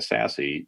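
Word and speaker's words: SASE: the same way it's a sassy based approach s-a-s-e pronounce sassy so so Gartner got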